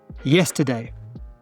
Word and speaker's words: yesterday: Yesterday. That's right, yep. The schwa is in the middle.